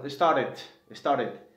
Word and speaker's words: started: Y luego tenemos, o le dicen los americanos, started. Pronuncian la T como la R, pero como ya tenemos aquí una R, hazte cuenta que es una R, perdón, ya suena así.